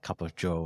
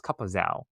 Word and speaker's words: Cup of Zhou: writing during this time frame as well at cup of joe as well which love the pun there as